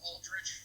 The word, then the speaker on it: Aldrich: Is that how you pronounce his name? Yeah, Aldrich.